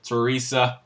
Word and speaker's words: Theresa: do have thirst inmates I've been saying her name wrong for about four weeks Teresa okay um you just wouldn't